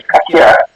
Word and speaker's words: Kakia: Kakia. I have it right. It's just the way of saying it is a bit hard. On the second K, you gotta make it sound like a KH.